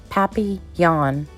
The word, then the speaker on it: papillon: like our neighbor's dog you say it like this papi yawn in french it means